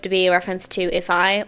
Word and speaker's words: ifeye: Today we're going to be listening to if I, which I believe is how you pronounce this, if I, which is how you read it in Korean. So, it's if I, I believe.